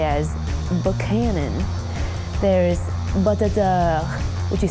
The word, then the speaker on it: Buchanan: So there's Buchanan, which you say as Buchanan.